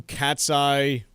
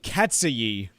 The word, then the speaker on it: KATSEYE: actual piece with that, I didn't even know that's how it was pronounced. I thought it was because it's spelled Katseye with no spaces or apostrophes. I thought it was like Katseye.